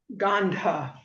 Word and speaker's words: gandha: and um ganda and one of them has the h gana and the other one is ganda. Oh right it's age kind of jumps position. It sure doesn't it right. Right. So um so for correct pronunciation it would be ghana and gandha.